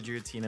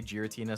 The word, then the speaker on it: Giratina: two in that pack I say gutina with the G something like giraffe hard G I've never heard